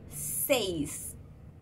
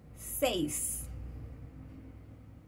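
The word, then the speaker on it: seis: En français, quand on met un E et après un I, on dit E seulement. Mais, bien, en espagnol, c'est pas pareil. On doit tout prononcer, alors c'est 6.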